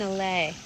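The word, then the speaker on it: allée: What's an allay? It's a like row. alley? Like an spelled I guess the same way? No, it's spelled A-L-L-E-E. Oh, okay. But it's basically French for an alley.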